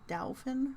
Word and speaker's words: Dauphin: It's not dolphin like D-O-L-P-H-I-N. It's Dauphin like D-A-U-P-H-I-N.